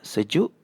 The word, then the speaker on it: sejuk: meanwhile these are sejuk, perlu bentuk. and this one is telur. So you can see whenever E is paired with an I or U it has an "er" sound.